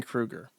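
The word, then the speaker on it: Kruger: Is it Dunning Krueger or Dunning Krueger? Because I've seen this spelled both ways. Dunning Krueger. It is Krueger. Like Freddy Krueger.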